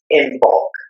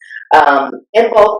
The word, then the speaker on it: Imbolc: Now that is spelled Imbolc, Imbolc.